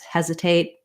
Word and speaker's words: hesitate: on that last vowel and of course as you know the t at the ends of word words hesitate hesitate i might do a stopped t that ends up not really releasing the air there or we can do do a true tea it depends on how